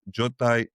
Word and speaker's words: Jotai: Well, yes, by the way, I call it Zastan, Jotai, and Vio.